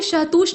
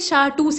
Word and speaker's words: शाहटूस: इसके बाद देखिए, शहतूत शॉल किसके, यहाँ पे शहतूश नहीं है, ये शाहटूस है असल में, इसको ऐसे कहते हैं शाहटूस। कुछ लोग यहाँ पे तू लिख देते हैं, लेकिन ये वाला इसका सही प्रोनाउंसिएशन है।